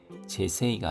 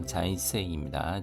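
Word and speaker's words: 財政: 자이세이 재세이가 아니라 자이세이입니다.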